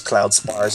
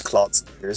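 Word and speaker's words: Cloud Spires: like really badly and he pronounces Cloud spars as Cloud Spears so yeah but yeah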